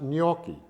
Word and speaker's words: gnocchi: It's gnocchi. She has a way of pronouncing it, which I can never do. It's pronounced gnocchi, which is not pasta.